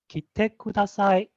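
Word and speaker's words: 着てください: Now the key should be very lightly pronounced, but in this case, for the purpose of demonstration, I'm pronouncing the key, so you can kind of hear the difference.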